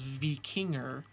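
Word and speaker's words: víkingr: letter R at the end I'm told the pronunciation is V King er today I'd like to say I'm a V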